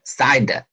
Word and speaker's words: CIDR: subletting and is called cidr which is pronounced side as in the string